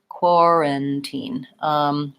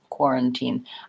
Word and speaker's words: quarantine: or or and then pulling my tongue back for the or I'm gonna have war quarantine quarantine this is a reduced vowel which i think is probably a schwa like an a quorum teen and then I have a clear eval at the end quarantine quarantine great question